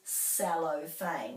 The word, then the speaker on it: cellophane: So this is a musical instrument, cello, so it's ch and this is cellophane. So even though the first two syllables look the same, this is ch and this is s.